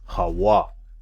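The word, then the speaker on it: הוה: You know, which it literally says here in the root word Hava, which really is supposed to be pronounced as Hawa in the ancient Hebrew, because this is just modern Hebrew.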